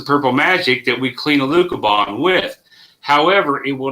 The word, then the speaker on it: Alucobond: No, the one about the AccuBond. Right here. It's asking, what were you guys talking about? Use clean with AccuBond or however you spell it. Alucobond.